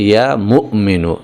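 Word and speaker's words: يا مؤمن: কিন্তু আসল উচ্চারণটা হচ্ছে ইয়া মুমিনু। এখানে মিমের পরে একটা হামজা রয়েছে। একটুখানি ধাক্কা হবে এভাবে।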